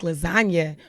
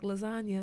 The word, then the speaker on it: lasagna: It took me a while, like lasagna, and I was like, the G is silent.